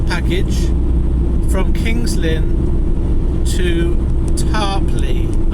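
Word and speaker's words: Tarporley: It was booked in yesterday, and it was taking a small package from Kings Lynn to Tarpley, I've been told is how you say it.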